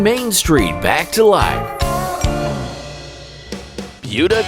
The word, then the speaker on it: Buda: street back to life buda texas sometimes mispronounced buddha is an unassuming nook